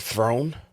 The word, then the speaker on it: Theron: you pronounce her last she said it was like Throne are you kidding me yeah like we've been mispronouncing her last name too really yes wow